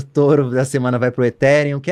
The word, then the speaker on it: Ethereum: Eu acho que a gente pode falar Ethereum, né? Tá ótimo, obrigado. Eu tava torcendo por isso. Meu touro da semana vai pro Ethereum, que é a segunda principal criptomoeda do mercado.